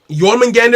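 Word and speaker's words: Jormungandr: um so yeah yeah that's uh that's it yorman gander is how you pronounce it oh well that's never gonna i'm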